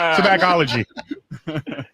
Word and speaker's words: Tobaccology: Tobaccology.